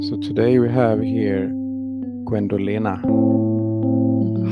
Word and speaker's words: Gwendolena: So today we have here Gwendelina. How do you say your name? Gwendelina.